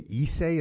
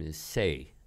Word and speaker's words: Issei: Do you say Issei? Is that how you say it? Yes, Issei.